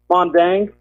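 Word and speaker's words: Maeng Da: Mondang. It's spelled Maendga.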